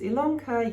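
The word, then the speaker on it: Ilonka: welcome to stitch ilongka my name is ilanka yes it's spelt with an eyeball pronounced with an e and you are here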